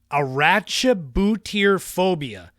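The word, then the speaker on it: arachibutyrophobia: people everywhere number three get ready for this pronunciation is aracha botier phobia a c h i b u t y r o phobia oh man that is the fear of peanut butter sticking to the roof of your mouth now when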